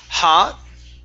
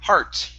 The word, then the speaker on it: heart: Um here instead of hot. Okay. It's har heart. Pronounce the r.